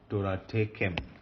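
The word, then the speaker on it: תורתכם: Torah tekem. Torah tekem. Torah tekem. Torah tekem. All right. Torah tekem. Okay. So if you break the syllable, it is like that. Torah tekem.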